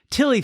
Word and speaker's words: Tilly: Is it like pronounced named Tilly? Tile? No, it's just Tilly.